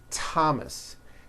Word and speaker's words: Thomas: Although these next words and names are spelled with a thron if they were spelled with a normal t like that. And these words are Thomas, Thompson, Teresa, Thailand, Tames, like the river, Esther, and time, which is a spice.